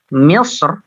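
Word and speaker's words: مِصْر: Jadi di sini Imam Ibnul Jazari ya, beliau memilih bahwasanya untuk Misr itu dibacanya tarqiq ya.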